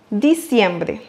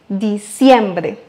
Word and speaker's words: diciembre: Et pour bien le prononcer comme un locuteur natif, n'oubliez pas d'accentuer sur le deuxième I, diciembre.